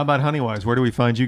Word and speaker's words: Honeywise: adventure yet how about honey wise where do we find you guys on the interwebs honey wise dot us and it's wwise like an owl not many ways weiss here not like i